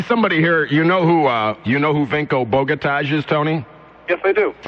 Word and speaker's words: Vinko Bogataj: And the actual pronunciation of his name is Vinko Bogataj.